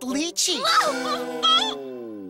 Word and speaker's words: lychee: Well, then I'm sure you know it's pronounced lychee.